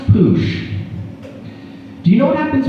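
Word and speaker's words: puxe: And the X in Portuguese is a sh sound. So it's pronounced poosh.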